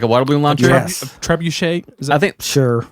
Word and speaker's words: trebuchet: Trebuchet.